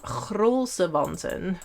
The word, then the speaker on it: grolsewanten: So if you're interested in knitting a traditional Dutch mitten, they are called the groenlo mittens or grolsewanten, which is, yeah, that's how Dutch people pronounce the G.